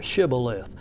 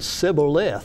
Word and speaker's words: shibboleth: Well, hey, then say to us, Shibboleth, putting that H in there, Shibboleth. But he could not say properly, he said Sibboleth, for he could not pronounce it correctly.